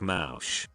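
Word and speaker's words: mąż: Let me add that in my native language, Polish, husband translates to Maz, you pronounce it somewhat like Mausch.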